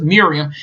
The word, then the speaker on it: Miriam: hell was i name so it's Miriam kind of sound like Muriel you know from Courage the Cowardly